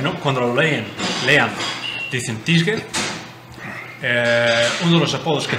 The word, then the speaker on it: Tjidsger: Pues mis padres me llamaron Tietzger. Claro, ese es el problema. Así es la pronunciación de mis padres.